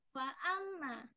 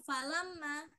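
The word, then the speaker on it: فَأَمَّا: Jadi fa'amma bukan falamma. Oh jadi, iya. Tidak lama. Ya, tadi Ibu membacanya falama. Tapi di sini fa'amma ya. Jadi lamnya itu diganti dengan alif ya.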